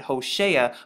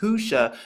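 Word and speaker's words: Hoshea: Now, H1954 or Strong's Dictionary, they pronounce it Hosea, but when you actually look at this, you see that it's pronounced Husha because right here you have the H or AH, Ausha or Husha when you actually put it together.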